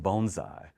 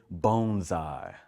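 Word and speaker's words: bonsai: Uh but he had the opportunity of seeing some bonesai, right? And we want to say bonesai. That's how you pronounce it.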